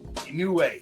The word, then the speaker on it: Inoue: Inoue, yeah.